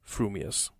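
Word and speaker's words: frumious: your mouth and speak if your thoughts incline ever so little towards fuming you will say fuming Furious if they turn by even a hair's breath towards Furious you will save Furious fuming but if you have the rarest of gifts a perfectly balanced mind you will say frumius supposing that when pistol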